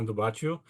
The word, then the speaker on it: Baciu: my name is s bachu that's a Romanian name you know it's a